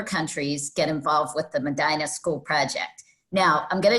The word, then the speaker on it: Medina: And I'm pronouncing that wrong, right? It's Medina. Medina, we call it. Yes, I am pronouncing it from a city in California that was Medina, but it's Medina where you are.